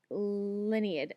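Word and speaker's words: Lienid: to get there um lineid I always pronounce it my head lineid it may be pronounced other people probably pronounce it differently but in my head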